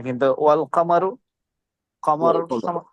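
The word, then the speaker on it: والقمر: আশ-শামসু, শিন, আলিফ, লামটা উচ্চারণ হচ্ছে না, কিন্তু ওয়াল কামারু, কমর, ওয়াল কমর। এখানে লামটা উচ্চারণ হচ্ছে।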